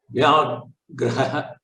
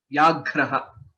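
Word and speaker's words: व्याघ्रः: Vyagraha. Right. Vyagraha. Vyagraha, a tiger. Dhanyavadaha. So here, if you see in this, Vya is a Sanyuktaksharam. Similarly, Ghra is a Sanyuktaksharam along with the Mahaprana. Vyagraha is the right pronunciation.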